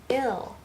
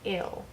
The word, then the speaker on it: il: group of masculine objects, it is all pronounced ill. So one boy, lots of boys, it's pronounced ill.